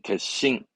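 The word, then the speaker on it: 決心: 발음이면 음은 같죠 그렇습니다 그래서 캣츠 심은 싱인데 결심은 그렇죠 개씽 초급변형 겟싱 겟싱 하나만 더 뭘까요 그렇죠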